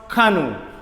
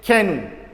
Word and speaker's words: canoe: royal rank including bronze canoe my student you should avoid nigerian pronunciation of this world can don't say kenu bronze can what is